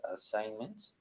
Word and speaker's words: assignment: pronation the assments area assignments assignment assignment assignment yes the G is not present er no it's not